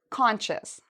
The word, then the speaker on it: conscious: So the C-I-O-U-S has a sh sound, like you're telling someone to be quiet, sh.